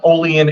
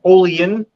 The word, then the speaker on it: Olean: got into the uh Olean area and I had I have to stress the pronunciation of Olean not Olean I almost got jumped